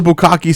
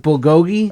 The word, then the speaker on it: bulgogi: yeah tell us a little bit about the bukaki sandwich at Parkside Deli oh it's actually pronounced bulgogi uh-huh sure it is okay I don't have